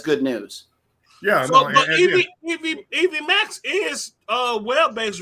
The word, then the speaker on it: EVMux: Yeah, and that's EV Max, but it's spelled EVMUX.